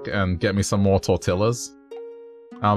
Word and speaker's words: tortilla: Oh, by the way, like, it's pronounced tortilla. And she's like, what? I'm like, it's pronounced tortilla. That's how you say it in Spanish.